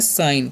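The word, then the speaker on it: sign: एस आई जी एन तो इसम पढ़ते हैं साइन क्या पढ़ते हैं साइन क्योंकि यहां पर जी साइलेंट होता है और इसे भी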